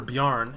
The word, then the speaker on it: Bjarn: The y part of Bjarn is very important. He gets a little upset when you don't pronounce the y. The J makes a y sound. It's Nordic. It's a Nordic name.